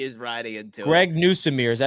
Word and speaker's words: Nussmeier: Greg Newsomere, is that how you say his name from LSU? Nussmeier.